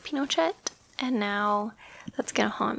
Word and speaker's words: Pinochet: my video last week kept putting the emphasis on the wrong syllable I think I was saying Pinochet instead of Pinochet and now that's gonna